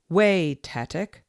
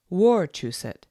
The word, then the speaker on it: Wachusett: Not Wachusett, Wachusett, but Wachusett.